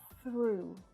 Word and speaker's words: through: next to the eye make sure that your tongue is coming through your teeth when you pronounce that sound through through is a verb